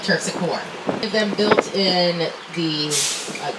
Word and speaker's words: Terpsichore: And Terpsichore, we just totally butcher that one and call it Terpsichore.